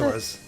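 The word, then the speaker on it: Skulltula: I wonder if Ash likes gold spiders, because I think he mentioned earlier that he doesn't like the gold scolitas. Is that how you pronounce it? Sculptulas.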